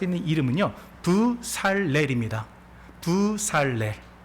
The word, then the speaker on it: 브살렐: 정확하게 말씀드리자면은 렐은요. 사례의 그 리을이 따라와 가지고 편하게 렐이라고 발음을 하는 것이지 원래는 무슨 단어예요? 예, 맞습니다. L이라는 단어입니다. 부살엘이라는 단어입니다.